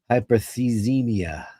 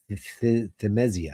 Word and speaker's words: hyperthymesia: Hyperthemia. Hyperthymesia.